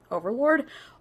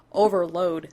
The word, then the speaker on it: overload: to being the overlords overlord overload skill when you do trigger an overlord blah blah I'm constantly gonna be saying overlord apparently over Overlord is a common mispronunciation yeah Overlord overload well I play journey in the